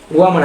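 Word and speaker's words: 我们: এখানে বাংলা উচ্চারণ রয়েছে ওয়া। ওয়া মানে হচ্ছে আমি, ইংলিশ হচ্ছে আই অথবা মি।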